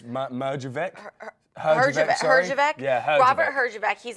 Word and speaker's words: Herjavec: So Shark Tank's Robert, and I'm not really sure how to pronounce his last name. It's Merjavec. Herjavec.